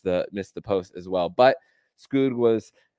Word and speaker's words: Skoog: Wilmer Skoog was Skoog, that's how you pronounce it, according to Doug Plagans on the broadcast.